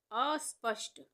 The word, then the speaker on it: अस्पष्ट: इस तरह से लिखेंगे, आधे स का उच्चारण आ रहा है तो आधा स लिखेंगे और यहाँ पे मूर्धन्य श आधा बनाएंगे आधे श के उच्चारण के लिए।